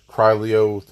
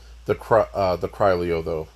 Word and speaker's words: Criollo: And in this video, we're talking about the collector horse, the Criollo, the Criollo, Criollo. I heard it online pronounced all of those ways. I'm going to call it the Criollo though.